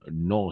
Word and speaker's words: nos: du chat ce sont nos chats non on va prononcer non d'accord le S le S on ne prononce pas ce sont nos chats